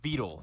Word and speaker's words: Vedal: for sponsoring this video meet vetal 987 or vetle as neuros pronounces it he has been